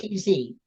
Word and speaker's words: Tatz: T-A-T-Z, Akiva, A-K-I-V-A, Tatz.